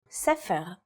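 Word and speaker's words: ספר: In the word for book or sepher, it's pronounced with a f sound.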